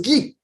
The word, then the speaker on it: Guy: Guy, on prononce Guy, qui vient simplement de Guylaine.